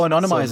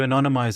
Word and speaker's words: anonymize: practice okay so you I always say it wrong it's not analyze it it's you you you you make it an ominous oh Anonymous oh anonymize it aniz you anonymize it anonymize it and it's